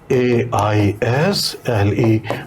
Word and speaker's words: aisle: यहाँ पे देखो सीट्स हैं, यहाँ पे सीट्स हैं, और this part is called AISLE. we pronounce is aisle.